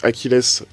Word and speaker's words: Achilles: Oui, enfin, on sait que le nom d'Achilles, la prononciation Achilles a été conservé en français. Donc Achilles reste Achilles en français.